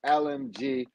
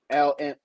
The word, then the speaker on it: LGM: LMG. I said it wrong. LGM. LGM.